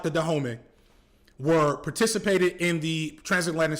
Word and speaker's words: Dahomey: I believe that it's pronounced Dahomey. That was in Benin and was a big part of the West African slave trade.